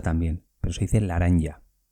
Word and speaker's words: laranja: Pues se dice laranja. Con L y con J también, pero se dice laranja.